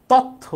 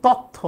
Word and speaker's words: তথ্য: য বলে তথ্য ও সম্প্রচার মন্ত্রণালয় তথ্য বলে। এখন এটার উচ্চারণ তো তথ্য না।